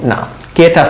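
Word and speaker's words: knock: নক, নক মানে এটা, নক। ওকে, এখানে দেখেন কেটা সাইলেন্ট।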